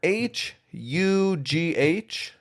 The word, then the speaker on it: Hugh: Either H U G H or H E U G H. You can spell it with or without the E. And it's still the same pronunciation.